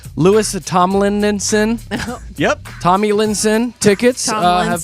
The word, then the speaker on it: Louis Tomlinson: A couple of the prizes that have already been picked, the Louis, I was going to say his name wrong, Louis Tomlinson.